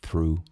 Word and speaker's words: through: Walk through. True significa através de por entre atravessando. E a pronúncia through é eu sei que é chato. Esse gh do final você esquece, não se pronuncia.